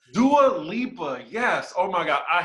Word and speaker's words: Dua Lipa: did you think about doula what's up okay it's actually dua lipa do a lipa yes oh my god